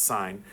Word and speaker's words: sin: There's a button on your calculator that says it looks like sin, but it's pronounced sign.